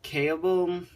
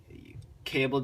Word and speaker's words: Kaelble: review of the nzg I think it's you pronounce it cable sl14b wheel loader in